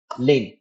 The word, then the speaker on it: lane: जैसे मैं यहाँ पे लिखता हूँ एस आई टी सिट लेन, लेन, लेन का स्पेलिंग क्या होता है, LANE, ए इज the silent, तो मैं लेन लिख देता हूँ।